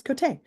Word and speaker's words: Côté: Yeah, no, it's not Côté, it's Côté. Which for those of you on YouTube, you see the fun little lines up there, the French pronunciation of that.